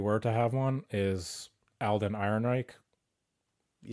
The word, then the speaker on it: Alden Ehrenreich: movie, if you were to have one, is Alden Ehrenreich.